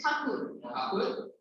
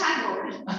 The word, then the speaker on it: Thakur: So real name of the word, it's Thakur. So it's Thakur, and the Britisher does not like sound it. Britishers couldn't pronounce Thakur; they pronounced it as Tagore.